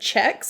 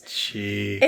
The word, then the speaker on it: Cheeques: And I saw that and I first thought it said checks. And I'm like, that doesn't make any sense. And I was like, oh, it's Cheeks. It's Cheeks.